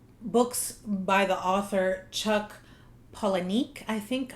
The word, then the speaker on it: Palahniuk: I watched several videos on how to pronounce it, and there are a lot of different ones, but this one seemed the most common one. Palahniuk. Some people say Palahniuk, I don't know.